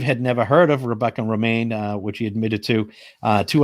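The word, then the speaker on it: Romijn: It's Rebecca Romaine Stamos. And Steve had pronounced it Rebecca Ramjin Stamos.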